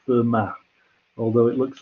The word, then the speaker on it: Fermat: learn to pronounce everyone fermat was french and in french you don't pronounce the last letter so it's for matt although it looks like